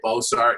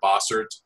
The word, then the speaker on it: Bossert: I oftentimes people will say Bossert instead of Bossert. So it's funny with that name, the first four letters, that's what people used to call me, but not pronounce boss. They used to call me boss.